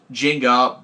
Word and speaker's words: Jinga: Megazord rodom and uh Jinga why does every keep spelling it with a z listen to the pronunciation it's a j sound um and yeah it's